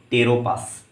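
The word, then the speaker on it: Pteropus: इसका नाम क्या है, टेरोपस, PTE टेरोपस, ठीक, ये याद रखना। यहाँ पर पी का प्रोनाउंसिएशन क्या रहेगा, साइलेंट रहेगा, तो ये याद रखना,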